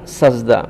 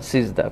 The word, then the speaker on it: সিজদা: তো উচ্চারণের ক্ষেত্রে সেজদা হবে না সেজদা হবে না সিজদা হবে, এখানে